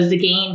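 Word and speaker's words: Tzigane: Um and so Zagane, but the Zagane is like it's got a silent T in the front.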